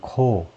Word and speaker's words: Corps: 이건 코, S 발음 안 하고 PS 둘 다 발음 안 하고 Guards Corps 부대란 말인데, 이슬람 혁명 수비대,